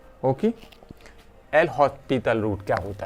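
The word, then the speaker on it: L'Hôpital: इसे एल हॉस्पिटल rule नहीं बोलते हैं क्योंकि एस ये फ्रेंच लैंग्वेज है, एस इसमें से साइलेंट रह जाता है, खा जाते हैं ये फ्रेंच लैंग्वेज वाले, पता ही नहीं चलता ये एस कहाँ चला जाता है इसका प्रोनाउंसिएशन।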